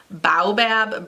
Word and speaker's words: Baobab: This is from the brand called Free Your Mane, and this is their Baobab Brilliant. I think that's how you pronounce it. It's B-A-O-B-A-B.